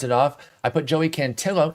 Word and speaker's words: Cantillo: I put Joey Cantillo. It's Cantillo, not Cantillo, folks. He is Italian, not Hispanic.